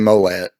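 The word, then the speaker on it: Molles: aftermath by uh DJ molet what bro what are you talking about man mole I think is how you say his last name this is book two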